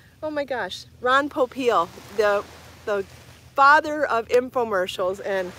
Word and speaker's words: Popeil: say his last name oh my gosh ron popeil the father of infomercials and i gotta tell